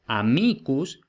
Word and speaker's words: amicus: Entonces, por ejemplo, amicus tiene el acento en la I en el nominativo, pero luego, por ejemplo, en amicorum no tiene el acento en la I.